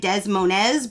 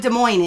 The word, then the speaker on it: Des Moines: to read things, because when one of the signs said Des Moines, I read Des Moines because I read phonetically. And I know I got rained out because I said it wrong.